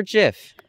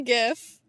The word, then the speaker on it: GIF: or jif gif good day sir darth vader pronounce it gif or jiff gif thank you sir hello is it gif or jiff it's definitely gif yeah cause jeff is a peanut butter yeah